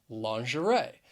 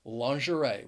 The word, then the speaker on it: lingerie: to that of french lingerie which is why again the spelling does not match up with the pronunciation the word has three syllables and the stress is on that third syllable lingerie the next word